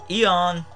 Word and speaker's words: Aeon: Next, I'm bringing Eon the Latios. It's spelled Aeon. It's the old Greek way, you guys know.